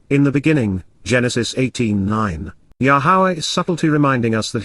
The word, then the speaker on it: Yahowah: to hear so after finishing his cheese B yahwah yahawah the proper pronunciation of yahwah our eloa God has directed